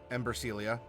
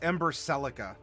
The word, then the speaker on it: Ember Celica: I'm a little blurry it's ember celica and I remember you actually applauded me for pronouncing it correctly the first time I it's been it's been a long day so forgive me ember for continuing to mispronounce it until I just caught it ember celica not Ember Celia ember celica I have not watched